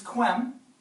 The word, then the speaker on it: quem: queequai quad is okay the reason it's kwem is because it can't be if it were kum it would be pronounced the same way as kum so the romans would